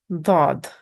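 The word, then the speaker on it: ض: This is dod, dod. It's kind of heavy D sound.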